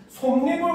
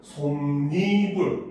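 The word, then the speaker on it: 솜이불: 그래서 예문을 보게 되면 솜니불 같은 경우는 솜과 이불이 합쳐졌고 솜을 보면 받침이 지금 음이라고 하는 자음으로 끝났잖아요 그렇죠 그리고 뒤에 이어지는게 이로 시작하는 말이기 때문에 반응을 하면 솜니불 요렇게 됩니다 입니다 알겠습니까 그다음 맨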